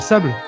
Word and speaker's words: Sable: Et Sable, ça veut pas dire sable. Non, mais c'est. Et ça se prononce Sable.